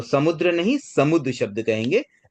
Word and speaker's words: समुद्र: थोड़ा करेक्शन कर ले, इसका सही उच्चारण होगा समुद्र। ये थोड़ी मिसप्रिंट है इस बुक में, मतलब इस बुक में नहीं, ऐसे ओवरऑल बुक में मिस्टेक ही है। तो ये तो अब नई पब्लिश कभी होगी, उसमें करेक्शन आए तो आए। फिलहाल आप ध्यान में रखने के लिए इसमें सही उच्चारण होता है सम प्लस उत, ये 2 शब्द से मिलकर बनता है समुद्र।